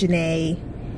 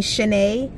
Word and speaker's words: Janae: about me um so anytime i like say my name is janae it either sounds to them like i'm saying shanae or if i like type it in somewhere they then say janie like nobody really pays